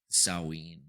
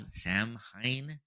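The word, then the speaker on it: Samhain: And then you see this one celebration of this god Sawine. It's spelled Sam Hine, but it's saw.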